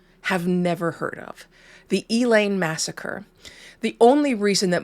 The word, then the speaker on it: Elaine: that most people have never heard of the elain massacre the only reason that most people if they do know about elain um it's pronounced elain because it's the South um is because of